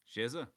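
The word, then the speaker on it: Sheva: Shza. How do we spell that? S H E V A. Shza. Oh, yeah. Of course. Za, not VA.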